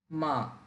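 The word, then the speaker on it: 吗: ভালো ভেঙ্গে বলতে হবে মা নরমাললি নিউট্রাল এটাকে নরমাললি বললেই হবে মা এটা দ্বারা কোশ্চেন বুঝায়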